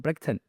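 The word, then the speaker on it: Bridgeton: reason I know is because they call it Brigton. And I was like, why is an Irish band saying all the way from Brigton? And I was like, why did they say it like that?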